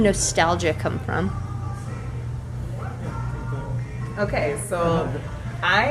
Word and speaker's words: Nostaljah: So that's why we spell it nostalgia. That's Nostaljah.